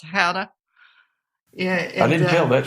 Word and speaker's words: gouda: how it is the the g is sort of silent and it sort of takes on maybe a slight h sound so it's pronounced how to yeah i didn't tell